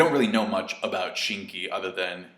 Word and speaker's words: Shinki: really know much about shinki other than his name is kind of funny at least to me because it rhymes with kinki and the movie boto